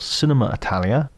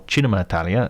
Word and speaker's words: Cinema Italia: coming weeks it's called Cinema Italia or chinema Italia if I give it the proper Italian pronunciation and we feature guests